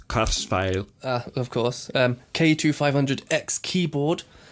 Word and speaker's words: Kurzweil: work Kurzweil he used a cursor that's actually pronounced Curtis value of course k2 500x keyboard I'm gonna use